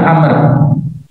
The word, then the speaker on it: Amr: Jadi hadis yang diceritakan Abdullah bin Amr. Jadi kalau tulisan begini ada bahunya bacanya Amr ya. Kalau nggak ada bahunya bacanya Umar.